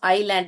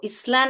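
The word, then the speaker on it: island: A group और chain of आइलैंड, इसको इसलैंड नहीं पढ़ते हैं बेटा, आइलैंड करके पढ़ते हैं। ओके, ये जो एस है साइलेंट है, आइलैंड, आइलैंड्स।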